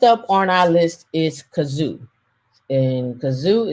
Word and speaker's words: Cazoo: all right next up on our list is kazoo and kazoo it's spelled c a um zoom c a z